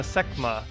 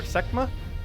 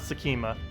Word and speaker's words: Sekhma: did mention that earlier semma semma wait how there's no the H is silent then techma techma so basically the H is just completely silent so it's not Sima I'm like saying it